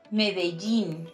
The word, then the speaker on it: Medellín: And also Medellín, not Medellín or Medellín. I've heard this one too.